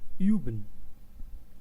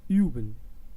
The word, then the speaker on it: üben: The example for U and how we pronounce it, I will pronounce it in a word which is üben. Üben, you can hear it, üben.